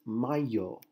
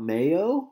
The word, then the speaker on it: mayo: word is pronounced as my yo try to be done my yo okay this is not Mayo like what you put on your hamburger I hear a lot